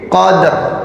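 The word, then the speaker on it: قدر: Ini qaf fathah dal sukun. Ada qalqalah di situ. Qad gitu ya sebetulnya ya. Qalqalah sughra. Setelah itu langsung ro yang disukun, maka bacanya itu tadi fi lailatil qadr. Jadi qadnya itu dikolkolahkan dulu, kemudian baru ke ro-nya qadr. Jadi kayak mau membaca ro tapi ro-nya disukun, jadi makanya jadinya ya. Jadi qadr gitu.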